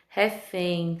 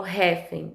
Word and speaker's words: refém: quadro, né, de oxítonas, eu tenho mister, recém, refém, sutil. Eu não falo mister, eu falo mister. Eu não falo recém, eu falo recém. Eu não falo refém, eu falo refém, refém, né?